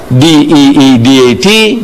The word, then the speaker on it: Deedat: So I tell her, my name is Ahmed Deedat. She says, spell it. So I started spelling it. A-H-M-E-D, Ahmed, D-E-E-D-A-T, Deedat.